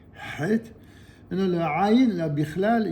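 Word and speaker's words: חית: Le het, il y a vraiment que dans l'hébreu et dans l'arabe qu'il y a cette prononciation, donc c'est vraiment une lettre très prononcée, het.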